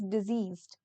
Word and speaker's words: diseased: So there is slight difference between the pronunciation also. This is deceased, this is diseased.